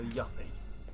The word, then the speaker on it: Yuffie: Keep these You pronounce it grappling Yuff guns as in close. tough. Okay, so Yuffie.